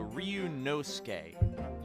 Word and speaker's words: Ryunosuke: the su is kind of silent. So Ryunosuke, Gotcha.